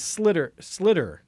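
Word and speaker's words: sliotar: Somebody who's Irish explained to me how the word is slitter, S-L.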